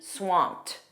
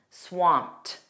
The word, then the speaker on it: swamped: And notice that pronunciation because that ed is pronounced as a t, swamped, swamped.